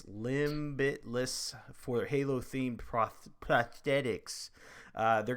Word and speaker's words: Limbitless: limb bliss limit limitless it's like spelled like limb it's hard to say it's limbitless for Halo theme prosthetics